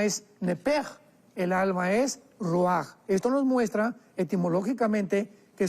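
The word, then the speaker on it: רוח: y la parte espiritual, que es la palabra ruach, que se pronuncia ruach.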